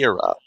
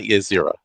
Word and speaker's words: Ysera: If Ysera is somehow good, although I fear it will It's not be, Yaira, not Ysera. I will continue to get that name wrong until the end of time.